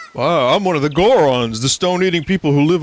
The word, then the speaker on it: Goron: If you want to hear more Goron gossip, head up to our city. No, Goron doesn't rhyme with moron for a reason.